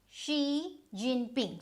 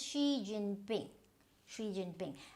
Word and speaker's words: Xi Jinping: So this XI is always she. So this is G, not sh. You can say Xi Jinping.